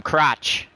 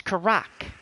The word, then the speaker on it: Karak: I keep calling him Crotch. He's like, quit calling me Crotch, bro. What's up, Crotch? It's like, my name's not Crotch. It's Karak.